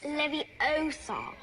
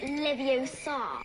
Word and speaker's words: Leviosa: someone's eye out besides you're saying it wrong it's leviosa not leviosa oh right sorry about